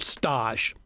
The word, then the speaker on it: stage: in France years ago there's a term called Stosh it's spelled stage and I know you